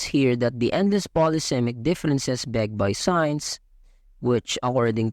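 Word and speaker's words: différance: intricate term of Dera spelled differance but pronounced as difference this time Thea used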